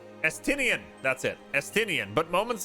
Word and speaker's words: Estinian: I can't remember how to pronounce his name. Estinian, that's it, Estinian.